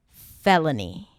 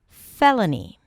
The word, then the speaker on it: felony: So to pronounce it, you start with fe, that's the primary stress, an F sound and the e as in red. Then l, an L and a schwa, fella, and then ni, felony, felony.